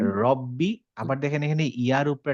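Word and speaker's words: رَبِّي: রব্বি দেখেন আমরা বলি রব্বি বলতে হবে তাহলে আমরা রাব্বি বলবো না বলব রব্বি রব্বি আবার দেখেন এখানে ইয়ার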